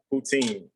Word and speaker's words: poutine: have to ask them again because i keep mispronouncing it what's it called again poutine poutine so this is a dish from canada